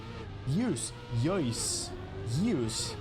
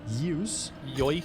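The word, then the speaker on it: Yeus: And the donation comes from Yois. How to pronounce it? Y-E-U-S. How would you pronounce that? Yois? Maybe? I don't know. Yois? 44. Personally, I would, yeah. Like Royce, like Marco Royce. Yeah, maybe Yois.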